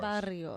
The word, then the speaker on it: Barrio: You have to roll your R's. Barrio.